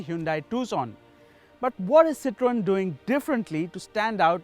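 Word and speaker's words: Citroën: pronunciation of words so first we're going to figure out how to pronounce the brand we're talking about citron or is it citrine or is it citroen well from what i heard at the presentation it's citroen so let's just stick with that now that we have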